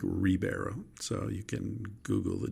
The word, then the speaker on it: Ribeiro: So it's the Xander end of the name that's pronounced in Brazilian Portuguese. Ribeiro, spelled with an R, like Ribeiro.